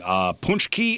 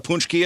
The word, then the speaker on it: pączki: Ponchki and International Pancake Day. You know what a Ponchki is? No. It's a jelly-filled Polish doughnut. How do you spell that? Pączki.